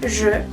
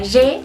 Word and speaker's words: je: Après on a tu, mais voyez bien, tu, donc je, cerramos bien la boca porque la E no se pronuncia como en español, que sería je, ¿no? Es más cerrada.